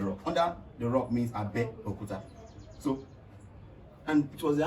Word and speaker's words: Abeokuta: Abeokuta is Abe, not You know, Abe. the pronunciation is Abeokuta. Abe is under. Anything under is Abe. Okuta means rock or stone. Abeokuta, under the stone.